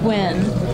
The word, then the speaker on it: Nguyen: When I see that name, it's pronounced Win.